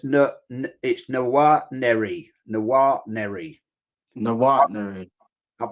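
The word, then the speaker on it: Nwaneri: It's Noir Neri. Noir Neri. Noir Neri. I've been saying Nwari, but it's actually I said the same thing.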